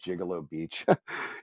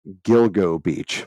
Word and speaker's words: Gilgo Beach: or I call it called Gigolo Beach it's it's Gilgo Beach by the way just